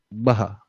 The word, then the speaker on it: Baha: Baha. Baha. Oh, okay, I got your name wrong. So, all right. So, you mean Baha, right? Yeah. Okay, Yeah. Baha. All right. Baha'uddin? No, just Baha.